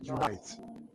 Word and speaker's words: unite: When you look at the word unite, you will see that the stressed syllable is the right syllable, while the unstressed syllable is the left syllable. You see that? No, because this is a verb. The verb of two syllables receives stress on the right side. on the second syllable.